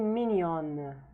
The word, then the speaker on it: mignonne: Now you may have noticed that the N here is kind of pronounced quite soft, but here it's clear. Elle est mignonne.